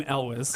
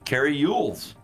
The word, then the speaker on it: Elwes: He pronounces his name Elwes. Okay, and we have been raised to pronounce it Cary Yules.